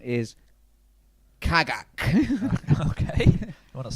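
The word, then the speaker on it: Cagak: Your name is Kagak. Okay. You want to spell that one for me?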